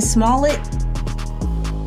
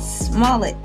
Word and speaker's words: Smollett: Jussie Smollett, Smollett, like you're ordering a small frosty. You know, can I get a Smollett?